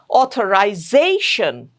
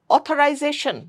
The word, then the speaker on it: authorization: Authorization. Don't say authorization. No. Authorization.